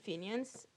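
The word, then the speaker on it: Finneas: and Phineas. Phineas? Phineas, I think is how you Phineas. pronounce it. It Um, looks the same as Phineas and Ferb. but with an F instead of PH.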